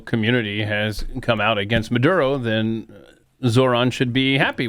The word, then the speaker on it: Maduro: yapping before Maduro was even out of the Gulf. When you say it that way, Maduro, I don't understand. It needs to be pronounced Maduro. Maduro. Nicolás Maduro.